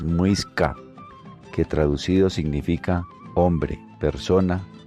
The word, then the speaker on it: muisca: Su pronunciación original es muisca, que traducido significa hombre, persona o gente.